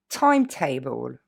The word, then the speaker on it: timetable: Timetable, ok? Ça n'est pas une terminaison, ça vient de table, la table, ok?